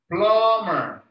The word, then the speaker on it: plumber: you can see here how plumber has the letter b there right but when you pronounce it you can't hear it plumber plumber number five repair